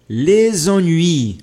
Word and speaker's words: les ennuis: Finis les ennuis. Olha só aqui a ligação. Les ennuis.